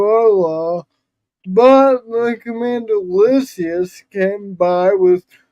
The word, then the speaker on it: Lysias: She doesn't pronounce Alicia. She says Lysias.